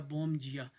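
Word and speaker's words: bom dia: पीछे आए, good morning में बोम जिया, इसको मैंने जिया पढ़ा क्योंकि डी हमेशा जे की आवाज़ निकालेगा, बोम जिया।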